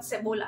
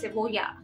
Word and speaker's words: cebolla: If you're saying like C-E, you know, B-O-L-L-A, then it's not Cebola, it's Cebolla, Cebolla. And then what was the other one?